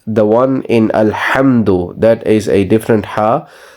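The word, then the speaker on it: الحمد: is a different ha the difference between these two ha's sounding is the first one which is alhamdu is a lighter sound which you pronounce or make when you're cleaning a glass or your glasses if you wear glasses when you clean them it is that sort of sound so this one is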